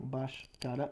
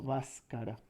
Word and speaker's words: Bhaskara: Creo que está bien pronunciado Bhaskara y no Bhaskara.